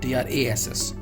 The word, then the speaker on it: truss: Truss, Truss, truss, ठीक है, ये truss नहीं होगा, ये truss होगा, Trass, truss. Clear?